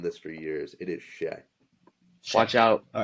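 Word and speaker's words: Shai: Aye, It's aye, Shay, aye. not Shy. Thunder fans have known this for years. It is Shay.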